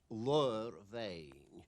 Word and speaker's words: Bheinn: The pronunciation of that is Bheinn. Lur means a hoof. There's no doubt about that. The B becomes a V sound and is written BH. Bheinn.